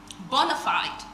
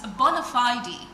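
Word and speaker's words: bona fide: It's not bonafide, it's bonafidey. So when you hear me say bonafidey, I am not forming for you and it has nothing to do with um not getting it right. It's just the correct pronunciation.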